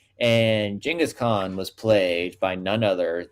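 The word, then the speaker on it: Genghis Khan: It was about Genghask Kong or excuse me, Jenaskhan. That is the actual pronunciation of his name. And Jingghask Khan was played by none other than an aging John Wayne.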